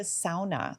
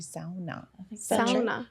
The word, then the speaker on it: sauna: they called it a sauna they said we were pronouncing it wrong it was actually sauna finished people safe sell